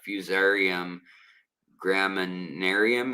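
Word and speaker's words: Fusarium graminearum: And um it's also there there is a a bacteria as well that is dangerous um by that uh fusarium gramminarium is how you say um it's in the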